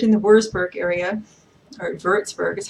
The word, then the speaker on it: Würzburg: I lived in the Würzburg area, or Würzburg is how it's properly pronounced.